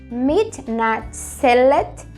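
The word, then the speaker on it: מתנצלת: A mulher vai dizer, Ani mitnatzelet, assim como no primeiro exemplo, a mulher tem esse sonzinho de et no final.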